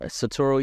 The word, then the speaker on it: Satoru: I feel like I'm saying it wrong but satoru Iwata the the former president of Nintendo yes